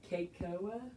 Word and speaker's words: cacao: Because did you know it's pronounced Kakoa?